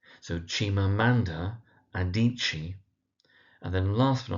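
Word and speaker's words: Adichie: We have Chimamanda Adichi. So Chimamanda Adichi.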